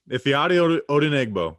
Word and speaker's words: Ifeadi Odenigbo: We're going to talk about, and I learned how to pronounce this guy's name. I'm never going to. Ifeadi Odenigbo. Ifeadi Odenigbo.